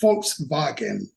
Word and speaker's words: Volkswagen: Somebody pulled me aside and says, W's are pronounced V's over here, fella, and V's are pronounced like F, okay? So it's Volkswagen.